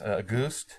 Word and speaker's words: Auguste: So think of the word August, picture in your mind August with an E at the end, and then pronounce it Auguste.